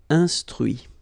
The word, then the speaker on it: instruit: Okay, so you can notice that even if I put this final T, so as usual, I don't pronounce it. Okay, conduit, construit, cuit, détruit, instruit. Okay, so a few more verbs.